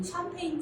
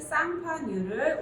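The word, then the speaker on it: Champagne: 자, 마지막으로 여기 보시면 굉장히 플로트처럼 길어서 요건 스파클링 와인잔, 우리 보통 샴페인 잔이라고 하죠. 그런데 샴페인은 프랑스 쌍파뉴를 우리가 영어식 발음으로 샴페인이라고 하는 거고요.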